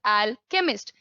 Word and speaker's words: alchemist: Alchemist, Ajay Madhvi, that's pronounced as alchemist. Chemist, medical store wale bhaiya, chemist bolte ho na.